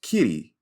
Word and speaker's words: Kiri: So Kiri, Sigourney Weaver's character, it's pronounced Kitty.